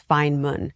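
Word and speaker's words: Feynman: which is called the Fineman method. It's spelled F E Y N M- an A N but pronounced fine, not FA. It's Fineman.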